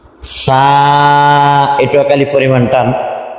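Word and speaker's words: ث: টান তা সাটুক আলিফ পরিমাণ টান চা উচ্চারণের ক্ষেত্রে চা উচ্চারণ কিভাবে করবেন জিহ্বার আগা আগাটা বের করবেন হ্যাঁ সামনের উপরের দুই দাঁতের সঙ্গে লাগাবেন নরম কইরা সা জিহ্বার আগা সামনের উপরের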